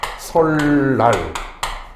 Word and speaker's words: 설날: 설날 이런 경우에 어 뒤에 있는 니은이 앞에 의문인 니은 유음의 영향을 받아서 설날 어 이렇게 발음을 한다라는 거 좀 알아두시면 될 것